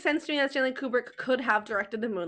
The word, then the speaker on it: Kubrick: they kept saying Stanley Cubri and now I'm probably saying it wrong. I'm famous for that. I think it's Kubric and every time they said Cubrick I was Kubri.